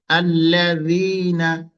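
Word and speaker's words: الذين: বাতাস পাবেন আপনি হালকা করে একেবারে নরম যেহেতু উচ্চারণটা সাজাল র সা জাল র আল্লাজিনা আল্লাজিনা আল্লাজিনা আমাদের অনেক জায়গায় আল্লাজি শব্দটা আছে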